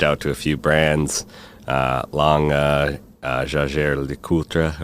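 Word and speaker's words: Jaeger-LeCoultre: So, and during that time, I also reached out to a few brands, Jaeger LeCoultre, or Jaeger LeCoultre, as we say in the U.S., and others.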